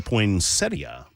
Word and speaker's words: poinsettia: Yeah, but the whole point is that there's an I at the end that nobody pronounces, and I'll go for it. So that's a poinsettia.